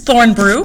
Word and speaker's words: Thornbrue: of 10th grade english i miss thornbrew that's how you say my name or you can call